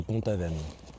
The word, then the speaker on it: Pont-Aven: Donc c'est Pont-Aven, ça se prononce.